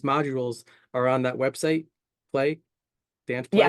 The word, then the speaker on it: PL3Y: So, we always say play. People kind of stumble along play because it's spelled P, L, the number three, and the letter Y.